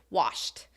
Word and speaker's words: washed: the past 10 ending the ED ending pronunciation for wash is washed right washed it's the T sound let's think of other